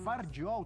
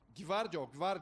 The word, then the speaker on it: Gvardiol: Gvardiol. Você tem esse G mudo, né? Então é Gvardiol.